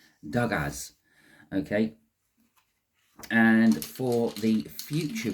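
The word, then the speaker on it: Dagaz: there it is uh it's pronounced dgas okay and for the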